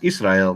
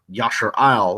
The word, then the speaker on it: Israel: we touched on earlier he clearly understood the word is being pronounced Israel not Yasser aisle or Yahshua L however the Torah nights